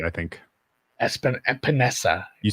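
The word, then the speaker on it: Epenesa: AJ Epipen, I can never say his last name. You got it right, I think. Epinesa.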